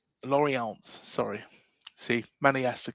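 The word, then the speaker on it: Lorient: club on a long-term deal from league side Laurian Laurant. Sorry, see Manny has to correct me with all my pronunciation.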